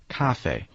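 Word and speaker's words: 咖啡: Well, one good example is coffee, which is just cafe. Cafe.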